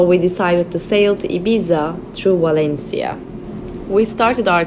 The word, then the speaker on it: Ibiza: Right now we're headed to Ibiza, or as the British say, Ibiza.